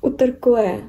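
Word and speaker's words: Uterqüe: Нашли новую вот марку бренда Utercue. Бренд именно так и произносится, я почитала в интернете, потому что название бренда происходит от латыни. На латыни звучит как Utercue, а испанцы на испанский манер Utercue.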